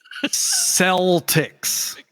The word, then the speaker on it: Celtics: team oh the Boston Celtics why is it a soft C that's